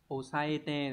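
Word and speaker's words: 押さえて: Số 1, đây là chữ áp, cái này sẽ đọc là osaete, đúng không?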